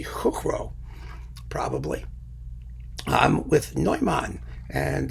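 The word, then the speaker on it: Chuchro: a guy joseph cuckrow chutro i mean chutro's easier to say i already pronounced it in czech i would be hook row probably um with neumann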